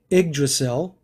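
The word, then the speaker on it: Yggdrasil: prominent is from Norse mythology that tree it's pronounced the egg Drasil but it's spelled ygg DRA si ALPA pronounced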